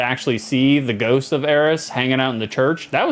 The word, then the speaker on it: Aerith: You produced it in this country, therefore it has to be pronounced like in this country. Like, is it Eris or Aerith?